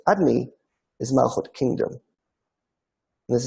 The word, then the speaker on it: Adonai: And the name Adonai, pronounced Adni, is Malchut, kingdom.